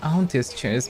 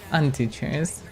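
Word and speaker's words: Auntie's Choice: Not auntie chase but antie chase.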